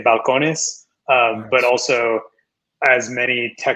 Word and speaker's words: Balcones: And been with Balcones since then.